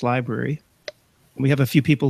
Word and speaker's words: LBRY: let people know about I guess it's pronounced library we have a few